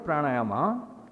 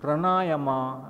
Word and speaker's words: pranayama: This word pranayama, when I hear somebody pronouncing it, pranayama and all that they say. As far as I know, pra-na-ya-ma. So there's dirgam in three places.